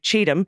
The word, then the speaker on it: Cheatham: people are lovely though the county is pronounced like Cheatham as in when donors send money to Trump he's guaranteed to cheat him I don't have any